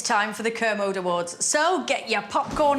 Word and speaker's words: Kermode: oscars snubbed but we hugged how do you pronounce his last name kermode mark thank you he hasn't got my name